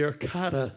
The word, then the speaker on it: Arcada: He's the owner of the Arcada Theater.